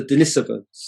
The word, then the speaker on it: Denisovans: Well, as you've already alluded to, there were a people there called the Denisovans. That is the correct pronunciation, by the way.